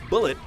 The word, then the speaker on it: Bullet: introduces two main villains bullet former member of Goldie Rogers crew whose name is pronounced like mullet in the dub because well he has an enormous mullet and the mystery mastermind